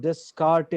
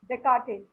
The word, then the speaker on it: Descartes: How do you pronounce it? Descartes or Descartes? Descartes.